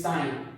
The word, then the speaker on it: sine: i n don't say c remember it is sine abbreviation of s i and e that is